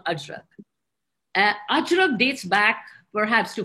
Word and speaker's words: Ajrak: Ajrak, A-J, let's say in Hindi we say Ajrak.